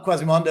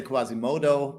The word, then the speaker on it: Quasimondo: yeah quasimondo how's that well quasimondo is good yeah so as long as you don't say Quasimodo but yeah I don't know so people get it wrong lovely to have